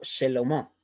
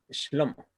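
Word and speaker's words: שלמה: Algunos erróneamente pronuncian como Shelomó, pero no es así. Debe pronunciarse como Shlomo, ¿ya?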